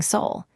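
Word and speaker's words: 서울: The first is the name of Korea's capital city, Seihol. The first block ends in an Lbatchum that links gently into the second, giving soul.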